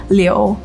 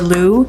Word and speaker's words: Liu: And then my last name, the correct Chinese pronunciation is Liu, but it acts hard for people, so a lot of people say Liu or Lou, and I actually don't mind. I think Lou is really cute.